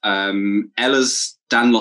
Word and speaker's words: Ehlers-Danlos: In particular, you have Ehlers-Danlos syndrome. It's termed as EDS, so that I didn't quite pronounce that wrong, I don't think.